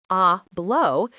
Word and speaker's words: hablo: When a Spanish speaker hears the verb hablo, pronounced ablau, they immediately know it means I speak.